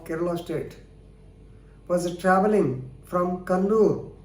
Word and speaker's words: Kannur: State, was travelling from Kannur. Normally we pronounce it as Kannur, but nowadays it has become Kannur.